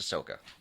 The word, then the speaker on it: Ahsoka: watched it Ahsoka no isn't there an H in there yeah but it's pronounced Ahsoka why would there be